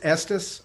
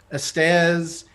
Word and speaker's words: Estes: my last name is estes and so i've been i've been called estez isis estes which rhymes with the part of the male anatomy that's that's real great